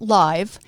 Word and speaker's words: Live: it's pronounced it's not live it's live it's a command not a description so deanne let's have